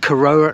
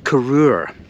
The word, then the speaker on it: Corrour: have established one thing this place is called Kur not kurur I think kurur is more of a glasg kind of uh pronunciation it's Kur according to the locals right let's get checked